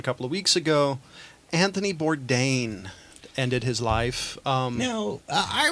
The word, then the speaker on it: Bourdain: you said how good I've been saying Bourdain Burdine just a bunch of different ones I'm like